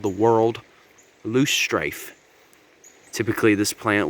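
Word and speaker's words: whorl: a world loose strife not based on the planet but it's spelled a different way w-h-o-r-l world it's so called that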